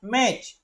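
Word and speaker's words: match: यहां पर ध्यान रखिएगा जब सी एच के पहले टी आता है तो इस टी का उच्चारण नहीं किया जाता य ट है ठीक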